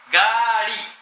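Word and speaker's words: گاڑی: بس لا تقول قالي، ها، لابد نطق تكون، أيوة لابد تكون نطق صحيح. قاري. وإذا قلت قالي ما شاء الله غيرت نعم، القالي هي كلمة يعني ليست طيبة.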